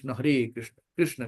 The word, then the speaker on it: कृष्ण: तो हमें ऐसे शुद्ध उच्चारण बोलना है। हरे कृष्णा हरे कृष्णा कृष्णा कृष्णा हरे हरे हरे राम हरे राम राम राम हरे हरे कृष्णा हरे कृष्णा कृष्णा कृष्णा हरे ये नहीं करना है।